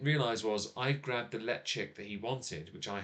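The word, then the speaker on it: Ledaig: really enjoyed that whiskey let chick ryoka Cask is absolutely spell l-e-d-a-i-g yes it's spelled nothing like his hand yeah uh totally like it sounds um but yes uh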